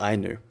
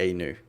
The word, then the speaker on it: Ainu: NIP second grow beards the Ainu or the a new the pronunciation actually varies depending on the region from what I can see because it's - it's basically Russian and Japanese and I know are